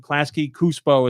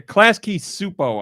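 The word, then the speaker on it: Klasky Csupo: Crandall uh Pulaski yeah klasky supo I guess is how you would say you don't pronounce the C in that c-s-u-p-o they've done a lot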